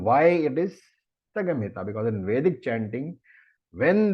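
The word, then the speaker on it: संहिता: So when Samhita is chanted in Veda, it has to be pronounced Sagamhita. If you're wondering what the Sagamhita is, it is Samhita. And the Ma is, as I said, because of the Vedic rule, it becomes Gum.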